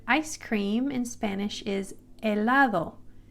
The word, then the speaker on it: helado: The letter H is silent, so you do not pronounce the letter H. So this word ice cream in Spanish is helado, helado.